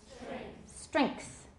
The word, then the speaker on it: strength: sand yeah go ahead strength you put the K in there your pronunciation will be right on them right on the nose okay so lend links